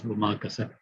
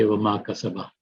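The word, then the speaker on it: وما كسب: So we simply pronounce it as wama kasab. But if you were continuing the sentence, you would say wama kasaba.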